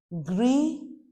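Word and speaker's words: gris: Gree masculine grease feminine.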